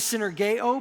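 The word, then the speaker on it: συνεργέω: The Greek word is, the way it's pronounced is synergeo, but it's where we got our English word synergy.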